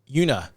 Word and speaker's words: Uinta: this one yeah uh the te is silent Yuna yep Yia I'm getting